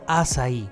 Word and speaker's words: açaí: Al salir, nos topamos con un puesto de helados de acai, o como se pronuncia en portugués, açaí, un fruto rojo similar a un arándano que se cosecha en las selvas tropicales de Sudamérica.